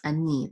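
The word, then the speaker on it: אני: So it's ani. The accent is on the second syllable.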